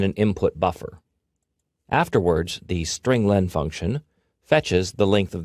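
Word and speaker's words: strlen: appears at line 9 I pronounce it string Len because it means string length it Returns the number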